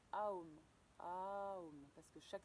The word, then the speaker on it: Om: Donc qui se fait en prononçant le son OM qui se dit AOM.